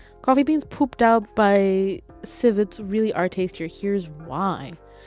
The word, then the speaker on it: civet: Civet? Everybody Google what a civet looks like right now.